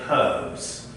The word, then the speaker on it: herbs: On a question of pronunciation here, Lou, in Britain we pronounce the H, we say herbs. But is it correct in America that you say herbs? Right, we only say herbs in America, not herbs.